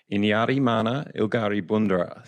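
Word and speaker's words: Inyarrimanha Ilgari Bundara: Wadjuri like to roll their R's a bit, so it almost sounds like a bit of a D sound.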